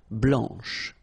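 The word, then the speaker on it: blanche: and then blanch okay remember when you combine this C you get the sound sh blanch okay so BL blanch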